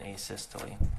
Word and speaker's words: asystole: about and have you explained to the jury a systole i think is called um am i pronouncing that right by the way asystole yeah